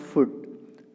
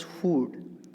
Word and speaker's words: food: And here see, while pronouncing, this is not food, pronounce it as food.